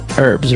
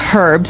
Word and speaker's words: herbs: Now, uh herbs, right?